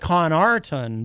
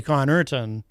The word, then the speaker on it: Connarton: it it looks like con arton but it's actually con urton but it's c-o-n and a-r-t-o-n but people but it's pronounced like it's c-o-n and e-r-t-o-n that's something you guys